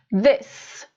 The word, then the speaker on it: this: Então, a primeira palavra, this, com som de S, this.